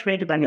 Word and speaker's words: Friedman: And it's like Friedman. So Friedman, that's Friedman. Okay. it is Friedman, but it's That's it. spelled like Friedman.